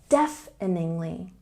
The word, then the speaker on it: deafeningly: could make you deaf there's a stress on the first syllable deafeningly defly and normal speed